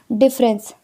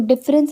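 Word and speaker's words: deference: अब इसको झोंक में बहुत से लोग यहाँ पे क्वेश्चन गलती करते हैं, डिफरेंस, इसको डिफरेंस नहीं डेफरेंस पढ़ते हैं। क्या है, डेफरेंस।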